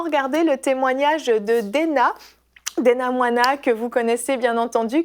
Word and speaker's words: Mwana: Est-ce que j'ai bien prononcé ton nom? C'est Moana. Moana, c'est ça.